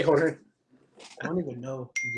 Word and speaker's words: Jorge: J is pronounced like an H.